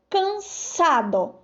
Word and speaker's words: cansado: Agora na palavra cansado, cansa, ó, sa, tem som de S.